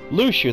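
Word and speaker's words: Luxu: gave his apprentice luchu a very important role lucha that's not how i would have pronounced that that seemed like a simple task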